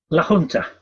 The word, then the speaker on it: La Junta: And you're now living, I read, I don't know how to pronounce this, but is it La Junta, how do you pronounce that? La Junta. La Junta.